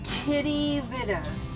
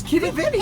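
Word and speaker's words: Quidi Vidi: Okay, we're gonna go to a place called Kitty Vitty. Kitty Vitta. No, it's Kitty Vitty. It looks really weird because when you spell it, it's the Q, and I always think of Roman Yeah, but that's times.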